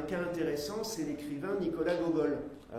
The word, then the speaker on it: Gogol: intéressant, c'est l'écrivain Nicolas Gogol. Là, je le prononce à la russe, il a écrit essentiellement en russe.